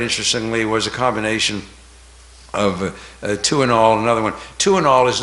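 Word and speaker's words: Tuinal: But Tuinol, and the name was a play on words. It's spelled T-U-I-N-A-L, Tuinol, T-W-O, two in all, T-U-I-N-A-L, and the drug was removed from the market.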